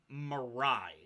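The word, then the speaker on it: Marai: and the um you've heard of a name mirai m-a-r-a-i that is tied to the um the mace spell that for me again m-a-r-a-i-i yep and roll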